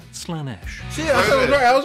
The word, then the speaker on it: Slaanesh: But Slaanesh isn't one of them. Pronounced Slaanesh.